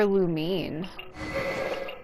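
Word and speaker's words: Lumine: disappeared like a douchebag he called her lumeen saying it wrong been saying it wrong the whole time it kind of makes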